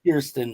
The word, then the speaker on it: Kirsten: Kristen dun and K Christ Christen dun it's pronounced Kiren James Kristen Kiren kir k i k i